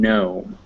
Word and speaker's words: gnome: vowels is a g g before an n or an m is never pronounced so if you ever see a g followed by an n or an m you don't pronounce it like in gnome um and that's most